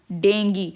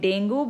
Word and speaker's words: dengue: Mosquitoes are carriers of disease like malaria and dengue. Many people they call it dengue, but correct medical pronunciation is dengue. It is known as dengue.